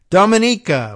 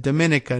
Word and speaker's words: Dominica: the Caribbean island of Dominica which I learned to pronounce last time I came up and I said Dominica not like Dominican Republican but Dominica which yes is where